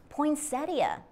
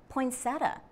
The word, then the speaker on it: poinsettia: Then there is the question of how to say poinsettia. Do not be surprised if you hear someone say poinsettia. Both pronunciations are common.